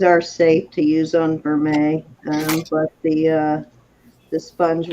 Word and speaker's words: vermeil: for mail it's actually spelled Vermeil that's how pronounced Vermeil you want to type that in for her um it's pronounced for May but it's spelled vermel b-e-r-m-e-i-l and if you're